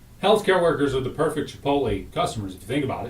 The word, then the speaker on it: Chipotle: that was pretty cool this says it is pronouncedly c-h-u-h uh p-o-w-t yep healthcare workers are the perfect Chipotle customers if you think